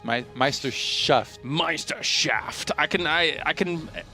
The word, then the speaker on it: Meisterschaft: Yeah, I remember when Hero Marine came along into the EPS Meisterschaft, he actually came in and almost won his